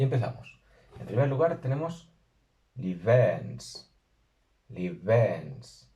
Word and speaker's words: 𐌻𐌹𐌱𐌰𐌹𐌽𐍃: Aquí hay que tener cuidado con la B, que hay que pronunciarla con los labios, pero casi como una V, no como una B normal plosiva, sino como una B acercándose a una V.